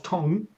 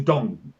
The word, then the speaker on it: Mao Zedong: And that was my point with Mao Zedong. It was Tong, and then it was Dong, and it's like, when did that change?